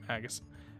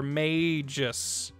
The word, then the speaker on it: Magus: have played chrono trigger do you call him magus or magus or mages i've heard those three pronunciations and i kind of like all of them for different reasons i like i like mages because he is obviously a mage he is magical uh